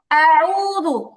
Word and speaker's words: أعوذ: তো যেটা পড়ছিলাম আমরা, আউযু আউযু আউযু। أعوذ এবার জু হবে কেন? জু তো মোটেও হবে না, এটা জিম না, এটা হচ্ছে জাল। আউযু আউযু আউযু আউযু, বলেন তো।